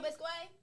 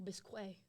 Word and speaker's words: bisque: that okay yeah yeah is it bisque then oh bisque why because it's a q but if I say k k q u e that means what in Spanish right tomato